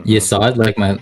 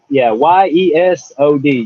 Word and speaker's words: Yesod: Well, that Sephira, the name for it is Yesod, which translates to foundation. Mm-hmm. Yesod, like Desad? Yesod? Yeah, it's pretty close, right? Yesod. Yeah. It's a Y-E-S-O-D, Yesod.